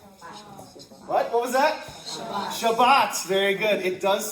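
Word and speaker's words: שבת: The end of the word in Hebrew has more emphasis, more oomph to it. So, Shabbat or, you know, Shabbat or uh you guys are all students.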